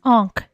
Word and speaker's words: ankh: It's Ankh. Not Anka.